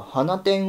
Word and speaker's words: 放出: まあ本質とも読めると彼女がハナテンを放出と呼んだので別れ